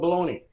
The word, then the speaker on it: bologna: bolog how do you how do you say it bologna bologna it's called baloney so we're going to be